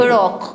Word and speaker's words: ırok: kıteli denir kıteli ırok ırok ırok diye yazıyor ama bir yumuşak y vurgusuyla okunu ırok evet ırok ırok diye okunur ve coğrafi işaretli ürünlerimiz